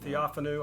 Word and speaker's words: Theophanu: And I'm not sure how to pronounce that. Theophanu, I think, is how I've heard the scholars say it.